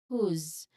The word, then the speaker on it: whose: Basically we vibrate the last sound. So instead of who's we say who's whose you can feel the